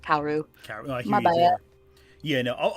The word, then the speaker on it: Kaworu: I think I look at his name more than I hear it out loud, so I always pronounce it phonetically. But Kaworu.